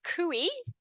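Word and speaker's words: cuy: looks like guy but with a c you pronounce kui which was easy for me to remember cuz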